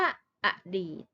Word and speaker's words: อดีต: ตาม ก่อน นะ คะ มา ดู คำ ว่า อดีต คำ นี้ อ่าน ว่า อะ อดีต นะ คะ